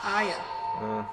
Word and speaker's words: Arya: I pronounce it Aya. Well, you're No, Australian. there's definitely an R Arya.